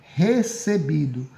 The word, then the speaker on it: recebido: Polissílaba é uma palavra que contém 3 ou mais sílabas, e paroxítono é que tem a penúltima sílaba como sendo a sílaba tônica, certo? Então, nesse caso, seria recebido.